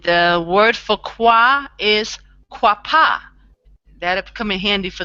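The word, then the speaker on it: qapah: So qua, okay, and the word for qua is quapa.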